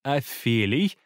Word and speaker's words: афелий: к солнцу на орбите наиболее удаленная точка от солнца называется афелий или а филлион я слышал и такой вариант произношения пусть он будет здесь